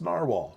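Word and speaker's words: Nahvalur: can't even write it properly uh but it's pronounced narwhal it's it's Icelandic where's my Iceland friend she's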